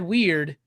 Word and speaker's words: Wyrd: And when I read Weird and it's spelled like WYRD, I was like, this dude needs to write Constantine.